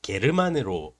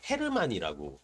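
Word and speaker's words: Hermann: 그리고 나에게는 나에게는 아내인 나는 화자인 나는 헤르만인데이 문학 동네에서는 게르만으로 번역을 하셨더라고요. 그러니까 게르만은 러시아 이름으로 조금 바꾼 것이 게르만이고 원래는 이제 독일인 발음으로서 헤르만이라고 해야 되는데 뭐 헤르만이 됐건 게르만이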